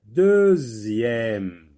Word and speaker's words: deuxième: Et dans le mot deuxième, on entend Z. Z.